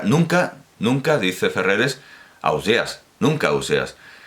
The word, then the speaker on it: Ausiàs: gandia ósea ausiàs ausiàs entonces se equivoca porque colom se equivoca porque dice que las tierras valencianas se dice ausías pero resulta que en gandia se dice ausiàs a óseas pronuncian su